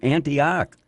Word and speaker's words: Antioch: kingdom all the way from Antioch did I pronounce it right yes you did all the way mr.